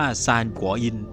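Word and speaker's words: 三國因: ก๊ก อิน หรือ ที่ ใน ภาษา จีน กลาง อ่าน ว่า ซานกัวอิน แปล ตรง ตัว ว่า เหตุ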